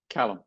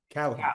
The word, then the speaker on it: Callum: So, is it Caleum or Callum? Callum. Callum.